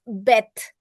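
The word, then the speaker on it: בֵּית: Only these letters if there is a dot, it is uh it it takes a hard pronunciation. That means it's beth. And what is the soft of B? It's V.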